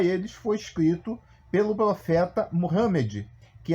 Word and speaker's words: Mohamed: foi escrito pelo profeta Mohamed que aqui no Brasil nós chamamos é ruim Amém erroneamente O Profeta de Maomé né mas na realidade a pronúncia certa seria Mohamed O Profeta Mohamed segundo